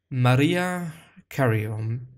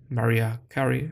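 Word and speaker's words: Mariah Carey: that he had never heard a song from maria carrion maria carrie and in fact i just learned how to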